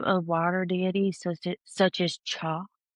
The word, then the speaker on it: Chaac: The worship of water deities such as Cha, I think that's how you say it. It's Chaac, the god of rain and fertility, frequently took place at these locations.